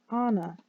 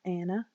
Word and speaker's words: Anna: give you my pronunciation you say Anna not Anna on for two seconds